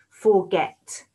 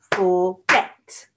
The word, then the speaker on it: forget: for forgetting and forgotten forget forget see how it gets a bit louder forget forgot two syllables